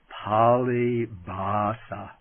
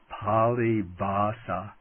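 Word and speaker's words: Pālibhāsā: the canonical texts as polybasa. I write that down. It's P long a l i b h long a s long a polybasa which means the language of the canonical texts.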